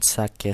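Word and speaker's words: 鮭: So as you can see in the graphics here in sake salmon, you can see the first syllable has a high pitch and the second syllable has a low pitch.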